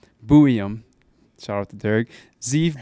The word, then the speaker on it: Buium: How do you say his last name? Buium.